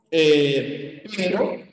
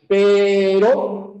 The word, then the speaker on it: pero: ya en la palabra si yo digo por ejemplo pero frente a perro ya date cuenta la diferencia por favor entre la r Pero y perro pero perro pero perro ya se en cuenta obviamente